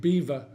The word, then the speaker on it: Belvoir: in the Vale of beaver spelt Belvoir but definitely pronounced beaver said own and he